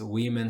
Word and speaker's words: women: Women a gente pronuncia assim porque aqui é no plural. women com e ali é no plural e aí eu mudo a pronúncia da letra O. Então aqui é o woman, pretty woman walking down the street. Woman. Então primeiro é W e depois é man, mas no plural é we e depois man. Ok? Então muda a pronúncia.